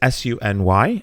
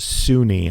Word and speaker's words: SUNY: aren't from New York SUNY is s-u-n-y and it is pronounced Sunni I have every year